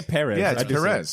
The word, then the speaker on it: Pérez: perz who says pre me Noz I say perezz perz uh according to like this sci-fi interview